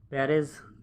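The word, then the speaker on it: Pérez: पेरेज करके भी बोलते हैं इनको, पेरेज करके स्पेलिंग भी है, स्पेलिंग देख लीजिएगा थोड़ा, सर्जियो करेक्ट है।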